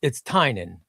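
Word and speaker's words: Tynion: That was the extent of all of my creator contact, was him just telling me it's Tynan, and that's how you pronounce it.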